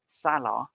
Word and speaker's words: Salah: salah's name Salah Salah I hear a lot of people say Salah and this I don't think that's a mispronunciation but Salah is how I understand his name to be pronounced so I I say it in that way um 4.5 goalkeeper or